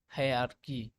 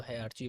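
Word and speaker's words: hierarchy: है बेटा, taxonomic taxonomic हायरार्की, है ना। कोई इसको हायरार्की पढ़ता है, कोई इसको हायरार्ची पढ़ता है, तो अपने हिसाब से प्रोनाउंसिएशन कर लेना, ठीक है।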